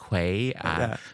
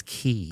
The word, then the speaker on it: quay: being rather disoriented and say, can I go to Surrey Quay? Be politely corrected by English. It's pronounced as Key.